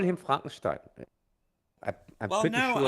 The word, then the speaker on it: Frankenstein: Hey, then say it in English. Frankenstone. Yeah. We just call it Frankenstein. It hasn't got that beautiful German inflection on it. You know, we can't say it properly.